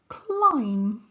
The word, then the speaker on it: climb: which is silent lamb there's also a silent B in this word this is the word climb in this word we